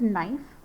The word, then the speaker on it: knife: or kanat or kani it's silent so the first word is knife it's k n knife ah i